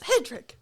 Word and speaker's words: Hedrick: take it and stride when someone says Hendrick or whatever you're just like I'm just like oh come on my grandpa my he'll watch the live streams and he's like they get your name wrong every damn time and I'm like sorry Grandpa there's nothing I can do about it it's spelled right there for him I know he's like it's Hedrick uh all right so